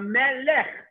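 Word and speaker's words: מֶלֶךְ: And the last word for this, melech. Mem with a segol, a lamed with a segol, and a final chaf with a shva, so it's silent. So melech.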